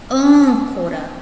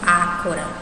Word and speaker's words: âncora: Âncora. Âncora. É o an, né? E aí eu vou perceber que esse A, ele está sendo pronunciado de maneira fechada, né? Eu estou pronunciando âncora, não estou pronunciando ácora.